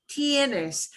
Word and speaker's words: tienes: they sound okay repeat tienes it sounds a little bit like tennis but it's tns t because we pronounce every sound tienes then we have tiene